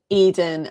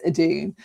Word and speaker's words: Edun: particularly but also um Eden and sorry Edun it's pronounced I've been calling him Eden all season it's Adun and gardener and They